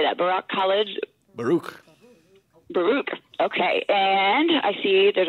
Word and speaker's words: Baruch: Baruch.